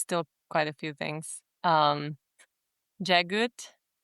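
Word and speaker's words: Jaghut: Jagut, which is apparently the pronunciation.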